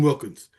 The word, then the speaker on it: Wilkins: But is there, other than Wilkinson, I always say his name wrong, Christian Wilkins.